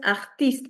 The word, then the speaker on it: artiste: So, uh pronunciation is artiste.